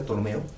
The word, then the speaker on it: Ptolomeo: Ptolomeo, con P, pero no se pronuncia Ptolomeo.